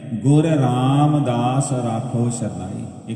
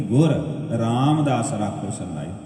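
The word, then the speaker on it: ਗੁਰ ਰਾਮਦਾਸ ਰਾਖਹੁ ਸਰਣਾਈ: उत्थे भी अखीर ते जाके यही पंक्तियां ने, गुर रामदास राखो शरनाई। एक अरदास पाठ कीरत कि गुर रामदास राखो शरनाई। गुरु रामदास राखो शरनाई नहीं है, उत्थे गुरु शब्द नहीं, गुर।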